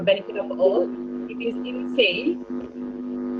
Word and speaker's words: Innsai: So I will do so, and I will spell it out for benefit of all. It is insane. It's a ancient Icelandic word of intuition. So I will spell it out. Innsai.